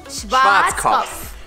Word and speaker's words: Schwarzkopf: Schwarzkopf. Schwarzkopf. Which means blackhead. Ew! That's like a pimple. Yeah, true. It's the pimple. Repeat after me. Schwarzkopf. Schwarzkopf.